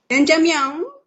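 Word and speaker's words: 짜장면: Jajangmyeon. Tak betul kan? Betul. Correct. She pronounced it very, very well.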